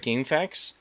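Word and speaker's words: GameFAQs: has friends over at Gamefax, which it's not spelled FAC TS, it's spelled FAQs. So, gamefax. I mean, it's supposed to be pronounced gamefacts like f a xs, but it's spelled g a m f aqs.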